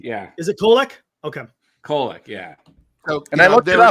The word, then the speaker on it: Kolek: Kolek, yeah.